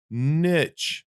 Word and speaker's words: niche: that it's both uh niche is the UK pronunciation because it's based off a French word and Americans um call it oral North Americans call it Niche so they're both right so and if she's